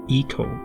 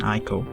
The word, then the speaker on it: ICO: ICO or ICO, depending upon whatever you want to call it, though the actual pronunciation is ICO rather than ICO.